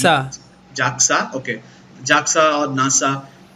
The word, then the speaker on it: JAXA: He does a lot of weird shit through his life, but from the minute he joins NASA, how is it pronounced? Jaxa.